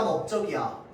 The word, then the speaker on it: 넓적: 자, 그런데 이 널 뒤에 적, 주, 둥이 올 때만 어떻게 한다고? 넓적, 넓쭉, 넓둥으로 발음한다고 했습니다. 맞죠?